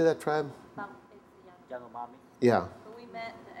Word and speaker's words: Yanomami: Yanomami.